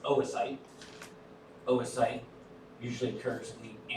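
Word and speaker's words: oocyte: So fertilization and that's pronounced oasite.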